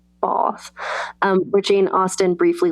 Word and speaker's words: Bath: But, you know, there's places like I went to Bath, which is how they pronounce it. Bath.